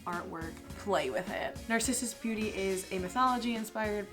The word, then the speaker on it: Narcissus: So it's pronounced Narcissus.